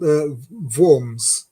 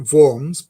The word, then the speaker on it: Worms: It's It's called Vorms. They pronounce it Vorms, but it is spelled like the English word worms, which is which is highly amusing.